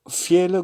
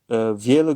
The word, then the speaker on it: viele: Alors, viele Grüße, meilleure salutation. Viele Grüße. Viele, au fait, le V se prononce comme un F.